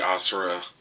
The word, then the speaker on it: Asura: a three-way, no homo, between Broly, Asura, that's how his name is pronounced, and the Incredible Hulk.